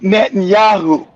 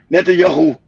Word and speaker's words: Netanyahu: Be nice if you can pronounce his name. It's Netanyahu. How about that? like Joby said, learn correct English. Netanyahu.